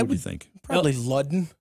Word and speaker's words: Ludden: Probably Ludden. L-U-D-E-N? No, D-D-E-N. Ludden. Yeah, because we got Ludens around Ralph here, of course. Ludden. But... No, it's not a Luden.